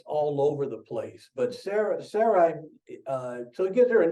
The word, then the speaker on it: Sarai: God gave Sarai, that's the way I'm going to pronounce it, Sarai, a new name, Sarah, and blessed her.